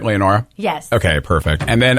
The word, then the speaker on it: Leonora: And am I pronouncing that right, Leonora?